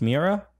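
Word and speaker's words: Meara: me era but it's mera mera mera mera right and you're MEA era right I do not pronounce it it might be mera okay like the way people from Long Island say mirror I don't feel comfortable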